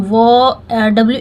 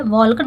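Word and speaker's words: walk: किस लिए की हूं इसमें वड में हम वो डब्लू ए एल भी है लेकिन एल को हम नहीं पढ़ते हैं यह साइलेंट रहता है ये इसका इंग्लिश पढ़ने का नियम तो वड होता है वल्ड नहीं होता तो वक टू स्कूल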